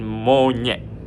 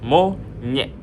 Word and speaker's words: monyet: Ny as in monyet, the way you would pronounce monyet.